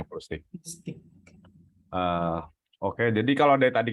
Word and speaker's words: Plustik: Plustik itu bahasa Indonesia, Mas, sengaja kita pakai hurufnya belakangnya K bukan C. Jadi, tapi emang orang sering salah baca jadinya plastik, tapi kita bacanya Plustik.